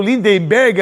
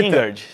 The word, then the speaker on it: Lingard: As informações do Lindenberg, a a pronúncia tá certa? Lingard.